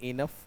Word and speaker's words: enough: ऐसे एक और वर्ड है ENOUGH, जिसे आप इंग्लिश में बोलते हैं इनफ।